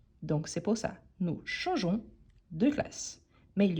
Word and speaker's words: changeons: à la prononciation nous changeons nous changeons on ne prononce pas les E mais on doit l'ajouter pour ne pas dire nous changons donc c'est pour ça nous changeons de classes mais il